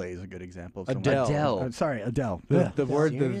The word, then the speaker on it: Adele: any momentum I agree chat room saying uh Adel is a good example sorry Adele the word the name I always just mispronounce every the name that Steve literally just